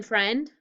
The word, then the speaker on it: friend: me have this eye do you hear i or a in friend no but now let's look at the end of friend look it says end so only part of friend that's tricky is the i the rest you could